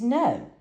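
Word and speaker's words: Noe: introduced himself as James No, the station's president, founder, and owner. So his last name for you guys is spelled N-O-E, and remember the radio station and TV station is called K-N-O-E.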